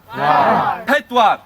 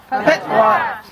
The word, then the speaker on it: pedwar: There's a couple of syllables in 4, and I'll give you the first syllable, then the second syllable. It goes ped. Pet. War. Pedwar. Pedwar.